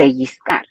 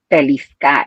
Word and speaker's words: pellizcar: And some people pronounce the L when you write L in Spanish, it has a Y sound. Mm. Well, I read it pellizcar instead of pellizcar.